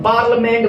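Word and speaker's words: parliament: पार्लिया नहीं बोलना है, मैं आपको बेसिक में पढ़ा चुका हूं भाई साहब, यहाँ आई साइलेंट है, पार्लियामेंट बोलेंगे।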